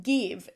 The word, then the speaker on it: GXVE: The brand, I'm pretty sure it's pronounced Give, even though it's spelled Gxve. It's kind of confusing.